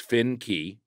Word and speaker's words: Finke: fun to make Chris Finke pronounced Finn key he always puts that